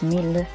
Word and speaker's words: Mail: Matt or Jeevas or male. I don't know how you guys pronounce it. According to the author, it's Mil.